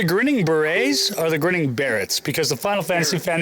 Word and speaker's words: Barretts: Well, everyone, welcome Pat of, is it the Grinning Barretts or the Grinning Barretts?